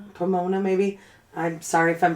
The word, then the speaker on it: Pomona: Pomona. Yeah. P O M O N A sounds like Pomona. Pomona.